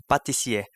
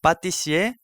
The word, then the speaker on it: pâtissier: Now with this, please pay attention to the pronunciation because although the two are written with the same consonant, the first P from the pâtissier is pronounced like the French pa, whereas the second P from pastry is pronounced like pe.